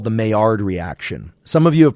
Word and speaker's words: Maillard: The D is silent, so don't call it the Maillard reaction. And it's not the Maillard reaction.